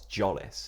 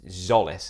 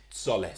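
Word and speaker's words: Tzolis: yeah so I put I keep saying Christos jolis okay and it's zollis isn't it it is dollis isn't it but he keeps saying can you stop pronouncing it jolis it's Solace so I'm Gonna Keep pronouncing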